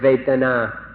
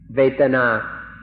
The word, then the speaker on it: vedana: So we'd like to request, we implore you in fact, to remember this word vedana, vedana, or in Thai, vedana. It's spelled in Roman letters V-E-D-A-N-A, vedana or vedana.